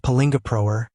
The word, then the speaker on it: Palingoproer: It's pronounced Palingoproer and it's ridiculous.